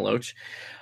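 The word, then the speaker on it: Loesch: How do you pronounce the last name? Dana Locke. Yeah. Locus. We'll go with that. Loach. Okay, Dana Loach.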